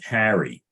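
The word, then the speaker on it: Cary: because in North Carolina there's a town called Carrie okay it's spelled c-a-r-y and the reason I bring that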